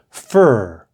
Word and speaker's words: fir: of fundy number three these two words are both pronounced fur write them down a we usually get a fir tree to decorate for